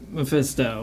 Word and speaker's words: Mephisto: Mephisto? Mephisto.